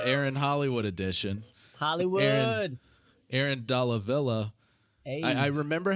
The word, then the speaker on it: Dalla Villa: They'll always say Della.